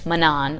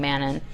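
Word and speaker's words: Manon: I did find out someone said that Sarah J masks in an interview pronounced it manaan I was saying man and so manaan and Aylan get to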